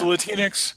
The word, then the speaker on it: Latinx: oh latinx is it latinx Latin okay it's latinx Kaiju novel so explain to me what the